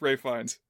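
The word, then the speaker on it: Ralph Fiennes: I mean it's spelled like Ralph Fiens but it's Ray Fines.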